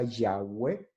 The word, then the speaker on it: Yahweh: al castellano sería YHWH, que una tradición pronuncia Yahweh, que ya traducido es Yahvé, y otra tradición pronuncia Jehová, que ya traducido es Jehová.